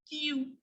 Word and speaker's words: tu: In French, we pronounce it as tu.